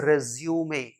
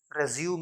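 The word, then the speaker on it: resume: यू M this is रिज्यूमे रेजूम नहीं रिज्यूमे इसका मतलब होता है पर्सनल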